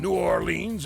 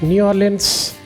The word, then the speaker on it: New Orleans: The Texas and New Orleans is a shadow of what it once was.